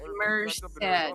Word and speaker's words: Merced: Pronounced Merced.